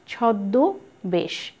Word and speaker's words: ছদ্মবেশ: এখানে আছে ছদ্মবেশ, উচ্চারণ দেখো ছদ্মবেশ, সামান্য একটু নাসিক করে উচ্চারণ করতে হবে এবং লেখার সময় চন্দ্রবিন্দুটি দেখিয়ে দিতে হবে।